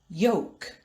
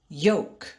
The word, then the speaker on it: yolk: l is pronounced but in the word yolk the l is silent milk milk yolk yolk in the word shoulder